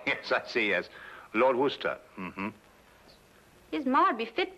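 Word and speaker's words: Worcester: well Freddie causes something else too dark but it's spelled w-o-i-c-e-s-t-e-r we're a sister oh yes I see us Lord Wooster mm-hmm his mind be fit be hard tired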